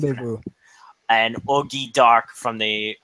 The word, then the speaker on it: Rendezvous: Hitagi Rendezvous. That's how it's pronounced. Rendezvous.